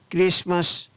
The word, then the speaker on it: Christmas: SASTN हैशन, CHRISTMAS क्रिसमस, SOFTN soften, MORTGAG mortgage.